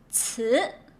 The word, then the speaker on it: 词: 词, like saying what? 词 tests. Voice it 词 and then give a second tone.